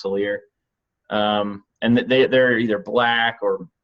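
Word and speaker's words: Salers: It kind of looks like sailor in the name, but it's actually pronounced Salier.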